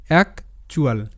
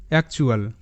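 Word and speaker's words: actual: টি ইউ এল চুয়াল এক চুয়াল এক চুয়াল এক চুয়াল তো এখানে মনে রাখার বিষয় টি ইউ এল একসাথে চোয়াল হিসেবে উচ্চারিত হয় এরকম আরো শব্দ আমি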